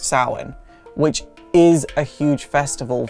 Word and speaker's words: Samhain: Samhain, and that's how it's pronounced, it's not pronounced. Samhain. It's pronounced Samhain.